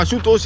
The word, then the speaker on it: Ashutosh: Temple Mahadev Temple now ashutosh is has been mispronounced mistranslated as us now ashutoshi is a very common bihari word so the